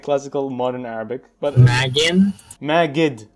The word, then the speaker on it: Magid: Magid, with a D. M-A-G-I-D. Oh, yeah, M-A-G-I-D, yeah. That's how you say it in English. Right?